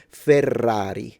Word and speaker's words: Ferrari: sound is the word ferrari because in Ferrari you have double r when you say fer that's double r but then single r.